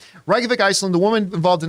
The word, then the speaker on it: Reykjavik: did not what's that Reykjavik Reykjavik that is how you say it you're right Reykjavik Iceland the woman involved